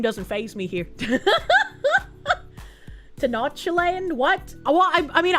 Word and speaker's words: Tenochtitlan: Well, I I mean I would usually call it techno land because like that's how I sound it out in my head. But I'm pretty sure it's not pronounced techno land. So um I want to say like Tenochtitlan sounds more like a real city name than techno land, you know?